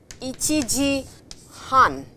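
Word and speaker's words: 一時半: But what you have to remember is that it is ichiji han, ichiji han, and please remember not ichi han ji.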